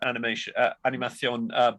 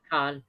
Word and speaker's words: Animakom: That was also shown at Animation, was recorded at Animación Bilbao. I probably pronounced that completely wrong. Animacon. Oh, I beg your pardon, Animacon.